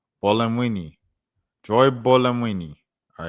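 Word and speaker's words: Buolamwini: Joy Bamwini on the Bolamwini. Bolamwini. Joy Bolamwini. All right, there we go. Joy Bolamini. All right. Dr. Gloria Washington, Dr. Joy Bolamwini.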